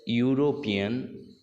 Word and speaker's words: European: Okay, it sounds like y.